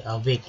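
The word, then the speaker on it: awake: चलिए अवेक यहाँ पर एक उच्चारण जो है अ के रूप में हुआ है, याद रखिए अवेक, एवक नहीं, एवक बोलते तो ये गलत हो जाता है, ठीक है, तो अवेक यानी जागना, सोकर।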